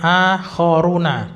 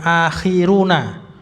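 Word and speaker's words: آخرون: Wa akharuna ini bacanya akhoruna bukan akhir tapi akhoruna.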